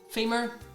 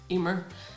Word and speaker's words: femur: important reasons firstly because it rhymes with my name femur femur secondly because it is